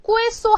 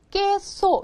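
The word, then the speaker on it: queso: 예를 들어 이런 거야 어떻게 읽는다 꾸소 하면 안 된다 깨소 이렇게 읽는다 깨소 치즈라는 뜻이에요 그래서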